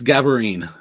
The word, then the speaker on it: Gaborine: to mess it up it's it's gaborine when i taught i would always tell the kids it it almost rhymes with tambourine just just say tambourine change the beginning of it um man you remember